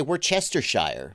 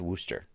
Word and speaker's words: Worcestershire: we're kestershar warcaster shire oh no no it's wooster worcestershire oh okay that makes